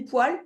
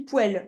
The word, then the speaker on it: poêle: Alors, là, comme je te dis, soit tu dis poêle, soit tu dis poêle. Les deux, c'est possible. Ok. Ça dépend où tu habites en France. Par exemple, je crois que dans le Nord, ils disent poêle.